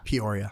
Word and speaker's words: Peoria: Um, I'm going to pronounce this wrong, but Peoria. Peoria.